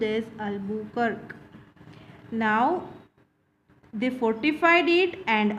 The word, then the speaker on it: Albuquerque: It is pronounced as Albuquerque.